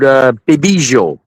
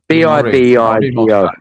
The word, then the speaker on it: Bibigo: So I thought I'd spell that. Yeah, well, this one is called Bibijo. Bibijo.